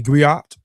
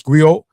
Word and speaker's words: griot: A griat or griotei or jali jali professional encompass many roles. Agree. I pronounce Grio has been referred to as a historian, a